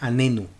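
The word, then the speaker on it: עננו: tiene una letra nun si pronunciamos la letra nun con suavidad significa respóndenos esto por ejemplo es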